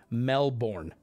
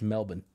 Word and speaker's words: Melbourne: way in the hell I'm gonna walk around saying Melbourne there's no way because that's not how it's said so I can understand people being like why are you saying like that because nobody there says it any differently it's it's Melbourne you say it yeah yeah you can't